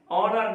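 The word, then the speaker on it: honour: ऑनर में भी H silent है, आवर में भी साइलेंट है।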